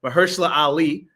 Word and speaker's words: Mahershala Ali: And then this black family by I want to make sure I pronounce this brother's name, Mahershala Ali.